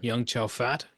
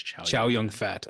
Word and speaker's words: Chow Yun Fat: Young Chow Fat. Young. Is that how you say his name? I haven't looked at his name in like 20 years. Not 20 years, like 5 years. It's Chow Yun Fat.